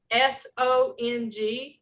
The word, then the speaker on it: song: It's spelled S-O-N-G, like a song you sing.